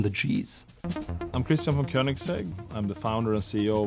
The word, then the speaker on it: Koenigsegg: Named after its founder, Christian von Koenigsegg, it's called Koenigsegg. Now you could think it might be called Koenigsegg, but it's a little softer. It's OE in German or Swedish means Ö, Koenigsegg.